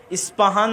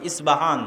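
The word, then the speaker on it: أصبهان: আজও ইরানের মধ্যে ইস্পাহান নামে সেই নগরী আছে। আমরা প উচ্চারণ করি ইস্পাহান, আরবিতে এটা উচ্চারণ হয় না। আরবিতে হয় আল আসবাহানি, বা উচ্চারণ হয় ইসবাহান বা আসবাহানি।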